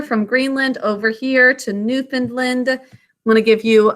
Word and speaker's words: Newfoundland: Specifically, this area called Newfoundland, which we pronounce we pronounce it Newfoundland, but it looks like Newfound land, as in it was newly found land.